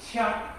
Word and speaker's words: 将: 你不能说进献敬酒你如果把这个腔念成将，理解为进献的话，你就出现了两次进献的意思。